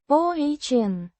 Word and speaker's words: он: A personal pronoun meaning he, pronounced. ohn.